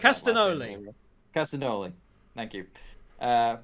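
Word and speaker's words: Castagnoli: claudio uh castanoga uh no glee i can't pronounce castanoli castanoli thank you uh it's like cassanat cassayanos but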